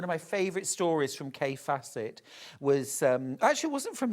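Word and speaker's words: Kaffe Fassett: She said, I love a bit of Kathy Fawcett. Kathy Fawcett, Kay Fassett. But she pronounced it Kathy.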